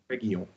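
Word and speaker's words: Reguilón: Reguilon. Reguilon? Mm-hmm. Reguilon.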